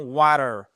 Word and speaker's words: water: Les Américains ont tendance, vous verrez souvent en phonétique, vous avez un espèce d'arc de cercle sous le thé. Pourquoi ? Parce qu'en fait, quand il entre deux voyelles, qu'est-ce qui se passe ? Il est compressé. Ça devient presque un de donc on entend water.